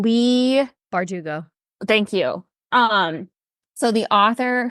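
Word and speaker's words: Leigh Bardugo: Lee Bardugo.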